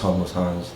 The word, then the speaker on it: HomelessxHonds: It is pronounced HomelessxHonds. The X is just silent, but yeah.